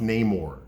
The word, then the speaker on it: Namor: is Roman spelled backwards okay it's always been pronounced Namor maymore the Submariner okay but now they're calling